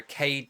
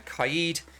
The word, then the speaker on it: Kaid: get six picked for cade now kaid i pronounced it wrong there kaide um people using his